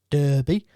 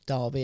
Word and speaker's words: Derby: so frank lampard started off at derby or derby as it's pronounced uh he was there